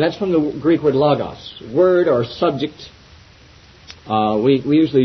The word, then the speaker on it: logos: Nobody knows exactly how the omicron in the Greek was pronounced in ancient times, but I tend to give it a short O pronunciation. So eschatos and logos.